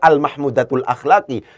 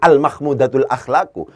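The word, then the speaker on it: المحمودة الأخلاقِ: Al-mahmudatul akhlaki, itu harus bacanya al-mahmudatul akhlaki. Jangan al-mahmudatul akhlaku.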